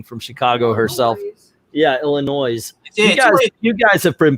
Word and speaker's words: Illinois: our visit to Shermer illinois's and by the way it's Illinois Gale will correct me on the illinois's thing being from Chicago herself yeah Illinois's yeah you guys have